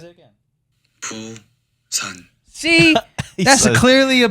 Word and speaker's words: Busan: Poo-san.